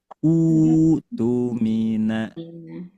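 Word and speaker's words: اؤْتُمِنَ: kita ambil ya, memulainya maka cara bacanya adalah alifnya dibaca u, hamzahnya ganti dengan wau. Jadi u tumina u tumina bukan u tumina bukan juga a tumina bukan juga i tumina tidak tapi jadi panjang dua harakat utumina ya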